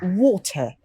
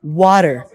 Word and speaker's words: water: pronounce raw yep but here I'm giving a stress on T but in American it's